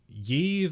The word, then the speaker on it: Yves: And the lady that took the chip is Yves Adela Harlow. Or yeah. It's like starts with a Y, but you say it like Eve.